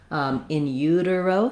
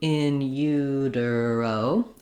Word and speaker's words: in utero: So going slowly, you could do in utero or in utero.